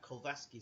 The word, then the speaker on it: Glowacki: Or Glowacki, I've got to keep pronouncing that. Glowacki.